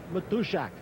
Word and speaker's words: Matuszak: Special pregame guest, my Polish friend John Matuszak. That's how you want to pronounce it.